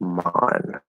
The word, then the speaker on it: man: have you noticed that people speaking with the British accent say the word man like mon not exactly but close the vowel is more open than Americans say it yeah so there's don't